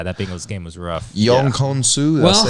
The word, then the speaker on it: Younghoe Koo: Young Konsu, did Well, I say it right? Younghoe.